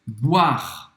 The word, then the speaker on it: boire: A gente viu comer, agora beber em francês, boire. Boire. Boire. Não vai pronunciar o E no final. Boire. O I tem o som do bois.